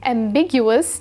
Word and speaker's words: ambiguous: different directions at once the stress is on the second syllable big which you can remember since something that's ambiguous can lead to Big misunderstandings when you buy a